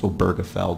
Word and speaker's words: Obergefell: of come to a cons ensus that it's pronounced oberfeld because frankly I had no idea how to